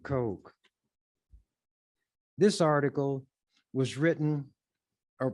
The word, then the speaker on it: Koch: Coke written on it, K-O-C-H. That's how they spell it. Some people pronounce it, who has that as a name, Coke, some Cook, others Koch. But the Kochs pronounce it Coke.